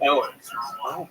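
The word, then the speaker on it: Eoghan: It's spelled E O G H A N. But it's pronounced Owen.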